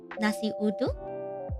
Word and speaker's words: nasi uduk: Here in Indonesia, we call it nasi uduk. Nasi uduk. Is that how I pronounce it?